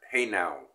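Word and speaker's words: hejnał: which is uh um it's a polish letter hey now is how you pronounce it now that hey now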